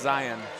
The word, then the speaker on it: Zion: It's pronounced Zion.